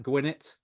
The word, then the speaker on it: Gwinnett: so I suppose yeah two n so it would be gwin net yeah yeah Excell that's